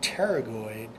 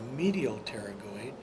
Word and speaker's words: pterygoid: they got their name pterygoid because it's a reference to wing as in pterodactyl and then the p is silent in that word when you look at